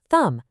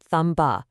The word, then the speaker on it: thumb: Your mouth doesn't actually make that buh sound at the end. It's thumb, not thumb-buh. And for the T rule, we've got debt, doubt, and subtle. Again, no B sound.